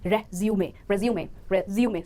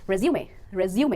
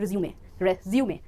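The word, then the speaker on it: résumé: अगर आप उस डॉक्यूमेंट की बात कर रहे हैं तो सही प्रोनाउंसिएशन होगी resume। स्ट्रेस आएगा मिडिल सिलेबल पर और प्रोनाउंसिएशन बन जाएगी resume एंड नॉट resume।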